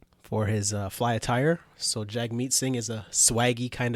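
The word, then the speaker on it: Jagmeet: his Twitter profile says it's pronounced jug meet like hug right and also uh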